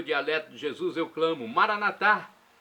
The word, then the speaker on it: Maranatá: E agora do aramaico dialeto de Jesus eu clamo: Maranatá! Maranatá ou Maranata, como dizem nossos irmãos separados, os evangélicos ou protestantes. Católicos colocam a tônica na última sílaba, protestantes na penúltima.